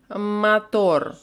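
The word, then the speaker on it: мотор: escuchamos radio radio radio mator por o acá se pronuncia como a mator y porque hay una regla que dice que la o no acentuada suena como a mator papa papa necesitamos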